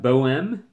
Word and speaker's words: Bohème: Again, I was It's pronounced Boem. Thanks, Brian. Boem. Boeme.